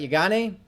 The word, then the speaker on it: Yeganeh: Emphasis on the second syllable, right? Yeganeh? That's right.